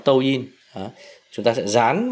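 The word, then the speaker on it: 抖音: Đấy, người Việt hay gọi đọc là Douyin, còn nó tiếng Trung là Douyin.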